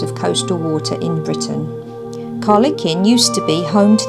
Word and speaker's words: Kyleakin: KYLEAKIN, which is pronounced KYLEAKIN, was named after the Viking king Håkon, who